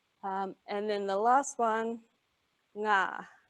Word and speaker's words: ngā: And then the last one, ngā. So back to that NG consonant blend.